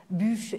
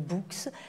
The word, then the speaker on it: Buch: été introduit comme bûche mais il se trouve que bûche et mon nom jusqu'en 2001 et quand je suis passé en Suisse c'est devenu books parce que c'est trop compliqué de justifier pourquoi je prononce mon nom bûche donc bûche et bouc c'est la même personne voilà ça c'est fait